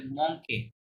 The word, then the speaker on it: manque: মংকে, you silent, ই আর থাকলে লাস্টে a sound হয়, তাহলে মংকে, মংকে, মংকে মানে জানা আছে?